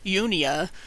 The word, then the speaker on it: Junia: about about with languages this is Junior this is how you pronounce it in English no they didn't have J's but that's how we pronounced it they would have pronounced that yunia a female Apostle later